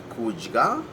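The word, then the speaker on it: kudya: There's words like kujga and fojga. You notice how it's got the jga in it. Now, jga is spelled D-G-A. D-G-A, that gives you the jga sound.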